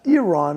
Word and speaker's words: Iran: I've been told it's Iran is the proper way to pronounce it.